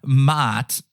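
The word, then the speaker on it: Maat: against the feather of mat I know I sound like a goat there it's m a a t doing my best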